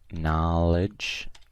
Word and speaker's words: knowledge: and we have knowledge this one's like no like there is a silent K like no here so knowledge knowledge okay here we